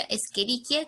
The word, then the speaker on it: Escherichia: Escherichia, pero se pronuncia Escherichia como si fueran Ks, ¿sí? Estas ches siempre suenan como Ks.